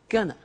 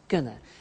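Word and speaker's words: gonna: to take the tube now very often when you hear this form you hear a pronunciation like Gunna so they're going to take the tube and that's when we completely contract they are going to and it becomes GNA and often you see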